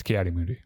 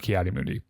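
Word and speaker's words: Ki-Adi-Mundi: he's in the credits it's kot moodi okay no that that is 100% confirmed kot moodi um so well we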